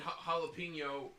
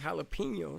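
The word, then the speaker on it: jalapeño: are there that's why in jalapeno or the J is pronounced like a H we don't bother changing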